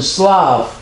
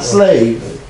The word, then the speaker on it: Slav: what you call English to wear Slav not slave slaves that Miss nomer based on a mispronunciation because these people could not say ah and they actually spoke with the Germanic and they say a and so it came out slave Negroes who do not